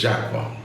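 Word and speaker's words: Jaquar: Wrongly pronounced as Jaguar by a lot of people but it's Jaqua.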